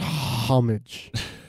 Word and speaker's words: homage: detail a little homage if you will it's pronounced homage hom a back you got to get the